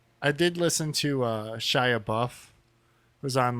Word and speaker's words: Shia: I can't do it Shia LaBeouf Shia just Shia LaBeouf and he seems like he's on some